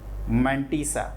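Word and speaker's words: mantissa: और जो f है इसको कहते हैं f इज कॉल्ड मंटीसा, है ना, मोनालिसा नहीं, मंटीसा इसका नाम है, ध्यान रखिएगा, इधर उधर मत सोचना।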